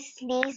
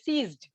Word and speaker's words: seized: Ma'am, he killed his brother and he sneezed his property. Correct. Okay, that is a correct pronunciation. That is not sneezed, synthesized. That is not true pronounced. Okay, pronunciation should be seized.